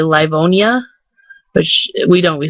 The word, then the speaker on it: Livonia: dwajak like that's just kind of how we pronounce it in livonia um it's pronoun it's l-i-v-o-n-i-a which most people would probably say livonia which we don't we say livonia like it's